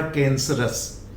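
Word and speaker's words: cancerous: Noun से बना कैंसरस। Noun में OUS जोड़ दिया, कैंसरस, तो this is again us, कैंसरस।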